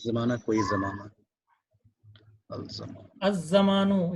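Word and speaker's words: الزمان: अज जमानु, यहाँ अल लाम जो है साइलेंट रहेगा।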